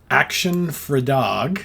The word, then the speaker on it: Actionfredag: one is brand new the band is called action for dog and that's spelled a c t i o n action